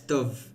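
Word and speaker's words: dubh: Yes, Dove um is a black. Normally it's um dove is um d u b h and then it's been anglicized like dove um um or d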